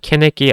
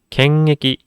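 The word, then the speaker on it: 検疫: 하지만 이렇게 캔애기라고 적었을 때는 일본어에는 없는 연음 현상이 발생합니다. 그래서 캔애기라고 읽으시는 분들을 굉장히 많이 봤어요. 하지만 캔애기 아니고요. 갱애기 이런 식으로 이응 받침을 끌어주셔야 됩니다.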